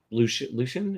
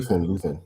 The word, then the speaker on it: Luthen: Lucian? Is that how you say his name? Luthen.